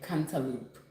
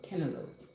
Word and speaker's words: cantaloupe: I'm going to um start pronouncing it that way instead of saying canaloop. So, cantaloupe.